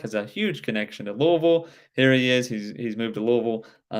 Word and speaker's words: Louisville: to what is jefferson county uh which is louisville if you if you don't know what what do you say where look louisville louisville how do you spell that l-o-u-i-s-v-i-l-l-e yes